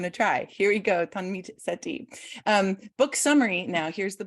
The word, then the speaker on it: Tanmeet Sethi: Tanmeet Sethi. Tanmeet. So I just pronounced the T. Tanmeet. Yeah, you're getting there. Sethi. Yeah. Okay, I'm going to try. Here we go. Tanmeet Sethi.